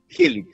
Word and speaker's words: Healeat: ¿Healit? ¿Así se pronuncia? Healit, sí.